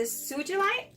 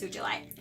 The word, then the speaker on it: sugilite: All right, so this is the, I believe is pronounced as the sugilite. I believe it's sugilite, okay?